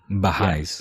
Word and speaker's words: Baha'is: you say highs that's what your people are Baha'is b-a-h-a-i yeah so yeah it's a topic it's